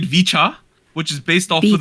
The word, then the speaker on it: VCHA: you um okay so in English we're calling it vicha which is based off